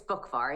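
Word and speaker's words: Buckvar: It's Bookvar. It's a like a silent C.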